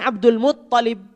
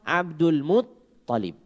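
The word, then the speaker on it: عبد المطلب: Abdul Muttalib. Bukan Abdul Muttalib sebagaimana banyak terdengar. Bukan Abdul Muttalib tapi Muttalib. Ya. Tasjidnya di ta bukan di lam.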